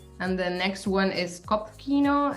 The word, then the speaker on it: Kopfkino: Well, how do you pronounce that one? Kopfkino.